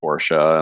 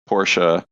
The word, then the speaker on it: Porsche: not correct I mean it is a two- syllable word if you go with the German pronunciation and if you listen to the folks from Germany they always say Porsche and the Porsche family